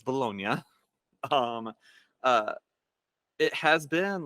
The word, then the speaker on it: Bologna: So in a little place called Bologna, Italy, and yeah, it's spelt like Bologna, but it's Bologna.